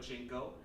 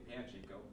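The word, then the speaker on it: Panchiko: But Pachinko, Panchico. Panchico. Panchico. Is that how you pronounce it? Yeah. Okay, Panchico.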